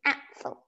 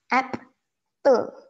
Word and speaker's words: Apfel: Then you say in German, Apfel. App, you say the app, you know, the game apps or whatever apps. Apfel.